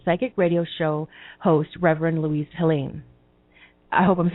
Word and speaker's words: Louise Helene: How do you pronounce your name so I know that we're saying it right? Louise Helene.